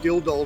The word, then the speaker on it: Dildo: It used to be called Ging Head Rock before it was called called Dill Doll Rock. Got to say, you put a pause between otherwise it comes out all wrong.